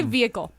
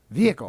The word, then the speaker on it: vehicle: How do you guys say vehicle? Vehicle. Vehicle. What? My dad says vehicle. Hard h.